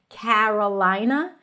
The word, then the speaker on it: Carolina: And again, it's an A, so technically it's the as in cat. Carolina, Carolina, before an R, it shifts to an E, Carolina, Carolina.